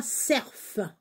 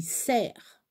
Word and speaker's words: cerf: cerf ça s'écrit cerf on ne prononce pas cerf on dit serre je sais pas pourquoi